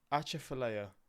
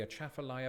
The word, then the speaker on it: Atchafalaya: Atchafalaya Basin Bridge.